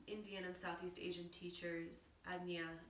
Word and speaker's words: Ajna: the west very frequently ajna from what i've understood from my indian and southeast asian teachers anya is a little bit more of the the culturally correct way to pronounce the third eye chakra so agnia is ruled